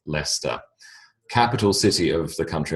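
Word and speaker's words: Leicester: examples the first being Lester uh l c s t er spells ler strangely um that uh that town is in the the Midlands of of England and they were the Premier League champions last year but leic Sr strangely spells leester capital city of the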